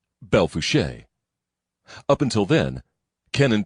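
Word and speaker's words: Belle Fourche: E F O U R C H E Bel Fuche.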